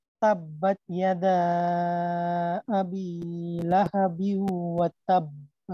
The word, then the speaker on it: لهب: تبت يدا أبي لهب وتب জি ما রুবেল ভাই, হায়ের উচ্চারণটা লাহা, লাহা, এখানে যেন ওই হলকের মাঝে চাপ না লাগে। লাহাবিউ, লাহাবিউ না হয় এটা তো খোলাখুলি।